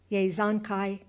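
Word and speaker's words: Yesügei: It sounded something like this, Yezonkai Bahadur, with the accent on the last syllable, Bahadur, and the A sounded like A in hark.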